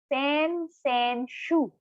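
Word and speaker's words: 先週: So when we say 2 weeks before this week, it's sen shu.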